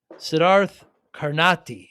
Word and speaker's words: Siddharth Karnati: Sedarth Carnati is your full name pronounced, but we call you Sid.